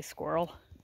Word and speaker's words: squirrel: And, yeah, that's how Americans say squirrel. As far as I know, that is how everybody I've ever met has said squirrel. We don't do squirrel. Squirrel. S-K-W-I-R-L. Squirrel.